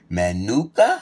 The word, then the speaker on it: Manuka: But the real honey would be this Manuka honey from New Zealand. I might not be saying it right. M-A-N-U-K-A. Manuka, right?